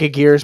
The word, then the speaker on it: Aguirre: Aguirre. It looks like Aguirre, but Aguirre.